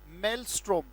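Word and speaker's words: maelstrom: job discuss करने जा रहे हैं इस call मेलस्ट्रोम mail a strong room torch light और इसकी स्पेलिंग आपको दिखाई दे रही है इसका उच्चारण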